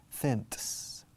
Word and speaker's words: cents: The spelling is completely different, C-E-N-T, cents. But the sound is exactly the same.